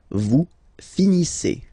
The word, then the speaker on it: finissez: Okay, a Z at the end gives you the sound E. Okay, finissez. Finissez. Vous finissez.